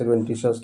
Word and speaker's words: adventitious: जैसे एडवेंट बोल सकते हैं, एडवेंटी और सस, एडवेंटी सस, एडवेंटिशस।